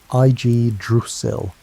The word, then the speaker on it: Yggdrasil: What grew from that seed was Yggdrasil, pronounced I-G-druss-il, the world tree.